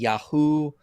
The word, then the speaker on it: Yahweh: know about pronunciation because I think most just say it's either Yahweh an earlier form might be yaho I've heard yah um check out a